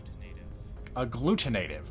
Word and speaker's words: agglutinative: how to pronounce that agglutinative okay actually it sounds a lot like it how it looks agglutinative since the Hydra